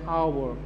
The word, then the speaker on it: hour: 78, he returned after that hour. We are not pronouncing ace here, we are pronounce hour. Ace is silent here, so in that case we have to put an here.